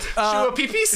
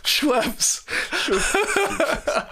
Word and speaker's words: Schweppes: How do you pronounce Schweppes? The soda drink. Yeah, what was that short you sent? Shua Peepees?